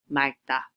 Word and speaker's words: 맑다: G at the bottom, you will hear the L sound as 받침 instead, as in 맑다.